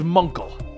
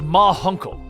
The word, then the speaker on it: Ma Hunkle: her that it was Munkle. The Guardian suddenly appears, and around the corner, the aging members of the Justice Society of America step into view. It's pronounced Ma Hunkle.